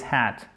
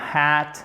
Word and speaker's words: hat: C'est pas hat, mais hat. Ok? Il suffit de prononcer le A avec une longueur normale pour nous francophones et ça vous donne le A court.